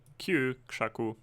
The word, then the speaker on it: KrzaQ: Now if you would like to go to his page, it's dev.KrzaQ, that's the way you pronounce this, KrzaQ, KrzaQ. .cc, and he has actually